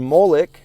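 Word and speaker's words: מֹלֶךְ: Now in Hebrew, Melech, king, and Molech, the deity, are spelled the same, MLK, but the vocalization and context differentiate them.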